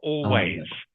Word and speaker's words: always: Have to pronounce the S on the end. [clears throat and snorts] Remember. Always.